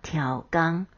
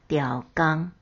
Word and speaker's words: 刁工: 刁工是指专程、特地，也有故意的意思，念作挑刚，又念作刁刚。